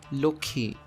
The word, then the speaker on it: Lakshmi: itself take for example the word lakshmi in hindi this word is pronounced as loki in bangla also take the